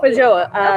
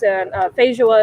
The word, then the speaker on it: feijoa: Feijoa. Okay. So that's how it's pronounced. Feijoa is how they pronounce it in New Zealand. Feijoa is how they pronounce it in Brazil.